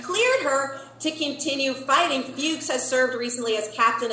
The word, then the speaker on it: Fuchs: It's next level, and believe me, I did a deep dive to make sure I was pronouncing her name correctly. I checked multiple sources. It's F-U-C-H-S.